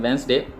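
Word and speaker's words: Wednesday: ये है वेडनेसडे, हम इसको प्रोनाउंस करते हैं वेंसडे।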